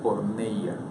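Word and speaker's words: πορνεία: Todos esos pecados la Biblia los clasifica dentro de un término que se pronuncia porneia.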